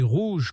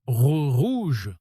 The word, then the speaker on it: rouge: Si vous prononcez rouge comme un espagnol en mode rouge enroulant le R comme en espagnol, ça sonne faux tout de suite. Et si vous le dites comme un anglais en mode rouge avec un R doux et arrondi pareil, ça ne passe pas.